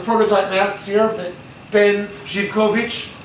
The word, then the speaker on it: Zivkovic: And I have one of the prototype masks here that Ben Zivkovic, we call him Zivkovic now in America, again, because we don't pronounce anything.